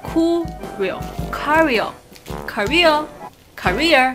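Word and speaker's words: Curél: 叫做 Kureo Kureo Kureo Kureo 的一个日本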